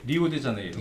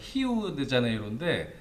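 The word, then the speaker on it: Rio de Janeiro: 그 브라질 리우데자네이루 예. 거기 발음으로는 이제 히우죠. 히우. 네, 히우데자네이루인데 거기를 한 달 정도씩 가 있었잖아요.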